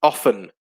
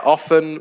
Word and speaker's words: often: bunny uh and jesse often yeah often where the t is silent is another good one